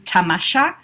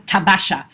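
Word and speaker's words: تماشا: The Persian word for this sort of adventures is tamasha, but he mispronounced it as tabasha.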